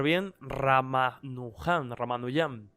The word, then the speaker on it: Ramanujan: voy a pronunciar bien rama luján román doy am si lo suelen pronunciar ramanujan más despierto que por